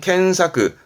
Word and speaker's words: 検索: 발음은 켄사크.